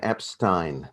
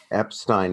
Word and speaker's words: Epstein: that i learned was it's pronounced brian epstein their manager epstein now his family said epstein but he said epstein so my policy is